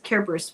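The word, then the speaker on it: Cerberus: Uh we're talking carburis would be the Latin pronunciation.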